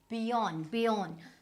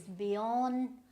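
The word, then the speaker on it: Björn: Now Bjorn. So this we don't have this J sound, we don't have the R sound, but this is how it is, Bjorn Borg, right?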